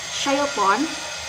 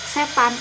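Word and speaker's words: شيطان: Seperti kata syaiton dalam bahasa Arab, nah dalam bahasa Indonesia itu tidak ada huruf sya. Maka ketika pengucapan syaiton dalam bahasa Indonesia itu dibaca setan, ataupun ketika ingin membaca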